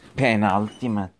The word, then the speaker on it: penultimate: I look up how you pronounce penultimate.